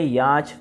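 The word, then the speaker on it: yacht: जाता है, ठीक है, याच बोला जाता है। स्पेलिंग जरूर याद रखिएगा, आपको एरर मीनिंग में मीनिंग देखने को मिल सकती है, क्योंकि जैसे बोला जाता है वैसे नहीं है, कुछ याच ऐसे लिख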